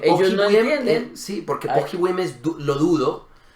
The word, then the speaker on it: pochybujem: Ligeramente yo recuerdo mucho, en alguna ocasión le dije a un eslovaco pohybujem y él no me entendía porque yo tenía que decir pohybujem y yo le decía pohybujem y él me decía ¿qué?